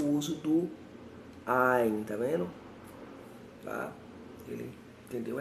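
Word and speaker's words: עַיִן: Então, o leitor, ele pode ter pronunciado não muito claramente o Ain, que possui um som gutural.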